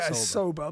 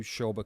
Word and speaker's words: Sobha: sober yeah well I was sober but it spell sober right but it's like maybe it sounds too sober maybe someone said that you make it sound more exciting so give it an ish sound at the beginning yeah exactly so I